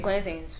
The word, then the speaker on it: plantain: I asked for making plantains.